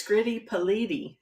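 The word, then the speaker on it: Scritti Politti: Can it be pronounced either way? No, it's Scritty Politi.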